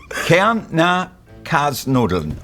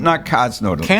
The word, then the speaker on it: Kärntner Kasnudeln: Kärntner Kasnudeln. Kärntner Kasnudeln. Kärntner Kasnudeln.